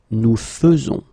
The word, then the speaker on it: faisons: will pronounce it, because you don't pronounce it e as normally you should, but you will pronounce it like e. Nous faisons. Okay, it's really fe, fe, fe. Nous faisons. Okay, you see it with e, but then you pronounce it fe.